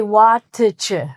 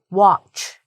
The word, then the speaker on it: watch: So you're trying to say "wa-tuh-chuh", "wa-tuh-chuh", "wa-tuh-chuh". I am... But people don't say that. Guess what? The "t" is silent. So it's, like, "watch". Hold on.